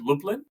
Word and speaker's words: Lublin: the Catholic University of is it Lublin is that how you pronounce it y that's right yeah so um what